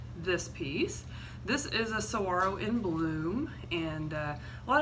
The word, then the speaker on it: saguaro: A lot of you probably think that giant cactus that mostly lives in Arizona is called a saguaro, but it's actually pronounced saguaro.